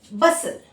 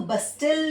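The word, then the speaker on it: bustle: for example देखिए बसल इसको बस्टल नहीं बोलेंगे बसल बसल ठीक ऐसे ही देखिए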